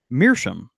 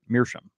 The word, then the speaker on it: meerschaum: Jason says, I got to say, up until I started listening to the show, I said meerschaum, the way Beau pronounces it on air.